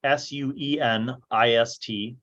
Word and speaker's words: Sueneist: The people of Arakazine would have been listed as the Araki, Araki, the Kronii, Kroni, the Sueneist, Suenist, and the Rogaru, Rogaru.